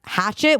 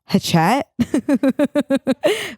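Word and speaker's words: Hachette: it izy do now it's like giving French h a c h e tte which makes me think maybe hatet but I think it's ET and in Hatchet well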